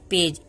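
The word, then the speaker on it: page: ई silent होता है पी को प पढ़ेंगे ए को ए पढ़ेंगे और जी को ज पढ़ेंगे तो इसको हम पढ़ेंगे पेज ई का तो हम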